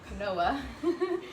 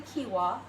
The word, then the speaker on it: quinoa: to use quinoa or I used to pronounce it Noah but it's actually quinoa alright so cue ball